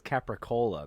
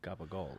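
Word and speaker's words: capicola: Like, nobody says capricola. They say gabagool.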